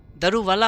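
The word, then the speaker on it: Daruwalla: दारू वाला होता है प्रोनाउंसिएशन जो हम लोग दारू वाला बोल देते हैं तो दारू वाला है।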